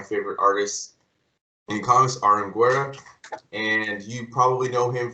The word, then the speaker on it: Guera: And by the way, it's Guera, straight, Guera. no accent. Yeah, no accent. Okay, cool. It doesn't matter at all. It's just to, I don't know, to be useful in some way. It's Guera.